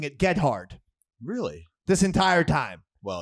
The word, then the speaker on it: Gethard: Chris Gethard.